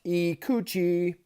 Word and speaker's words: Ikuchi: So something I think that's really cool about this knife is it's named the IKUCHI, pronounced IKUCHI, and it's named after a Japanese sea monster, which is pretty cool.